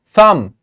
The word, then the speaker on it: thumb: in the word thumb we are just saying this part thumb not B it is not thumb